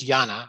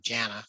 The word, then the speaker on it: Jana: And Jana, it's pronounced Jana. I've been calling her Jana, but it's Jana Hawken.